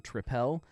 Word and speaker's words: tripel: they say on here I know that there is a Belgian tripel is how we've always said it but it is spelled triple like it is definitely spelled triple not uh uh e l it's l e so I I'll go the American way um it is 8%